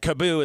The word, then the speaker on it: KaaBoo: We've gotten a lot of pronunciations of it, but Kaboo is the correct pronunciation.